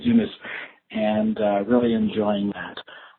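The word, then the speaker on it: Yunus: business by Muhammad unus y u n us I believe it's pronounced to Muhammad unas and uh really enjoying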